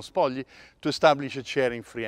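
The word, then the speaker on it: Spogli: from ambassador ron spaldi well yes sparkly they say but it's an italian name so i'll pronounce it the way we would pronounce it in italy so ron spodli to establish a sharing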